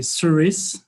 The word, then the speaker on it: SURYS: so mishka it's a you can say serious this is a the way to pronounce it so so first of